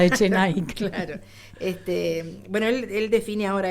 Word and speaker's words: Echenike: Claro, le pone una K en lugar de la Q, para que la pronunciación pueda ser esa, Echenike.